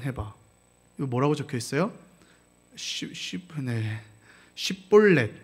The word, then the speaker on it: 십볼렛: 그래서 십볼렛이라고 해야 되는데 시볼렛.